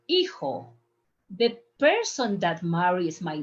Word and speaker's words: hijo: Yo soy hijo de Donald. Remember the pronunciation? Don't pronounce the H.